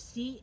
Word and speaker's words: Ciro: Now, Ciro Marchetti, and that is the Italian way to pronounce it. I know it's spelled Ciro, but it's actually pronounced Cheeroh. Ciro. Ciro Marchetti.